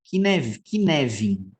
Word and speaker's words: Cynefin: correto ok bom então é a pronúncia correta de isso aqui é do jeito que vai escrevendo aqui ó neve e neve tá lembra de kevin coisa similar que você não não não esquece isso é um framework que